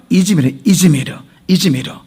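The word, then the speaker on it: İzmir: 자, 지금의 현재 지명은 이즈미르. 자, 그러면 이 관계가 뭐냐면은 자, 원래 헬라어의 원 지명은 스밀르나 이렇게 발음돼요. 돼요. 스밀르나. 헬라어로 스밀르나. 자, 그 스밀르나 영어로 스미르나. 자, 그리고 이것을 터키식 발음으로 이즈미르예요.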